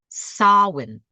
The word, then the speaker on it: Samhain: And it is not written how it sounds at all. In my opinion, it is spelled S A M like Mary, H A I N like Nancy. It is pronounced sawin.